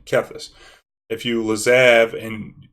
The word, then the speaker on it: Kethis: same is kept this because my last name is Keith there's a high after EE so that's how I'm pronouncing caphis if you lose EV